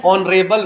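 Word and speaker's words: honourable: अ का प्रयोग होगा लेकिन एच इसमें क्या है साइलेंट है एच क्या है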